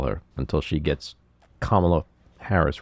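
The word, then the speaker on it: Kamala: I'm going to call her until she gets kamla Harris right anyway what else we got we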